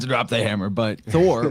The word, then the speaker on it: Thor: We're about to drop the hammer, but Thor, or as you correctly mentioned, Tor or Tar, are other ways of pronouncing this name.